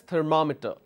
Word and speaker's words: thermometer: say for example thermometer the thermometer so I pronounce this as thermometer all right so these are the word endings